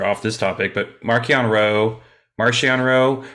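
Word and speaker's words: Marchion: this topic but markianro marcionro however you want to pronounce his name now i don't give a um it's both either or the writers pronounce it marcion uh you know hope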